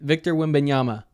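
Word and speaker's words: Wembanyama: his name again bro you say his name Victor wiama there you go there you go it's about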